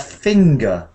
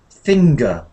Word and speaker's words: finger: see the two letters n and G um next to each other the two letters together sometimes those two make a sound like separately so we have finger finger it just happens that each syllable um is like this finger but when I have nothing there isn't any G so um finger does have it but and linger has